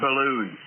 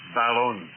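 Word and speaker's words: balun: It's not ballooned, it's balon, a balanced unbalanced. Hence the word bal on.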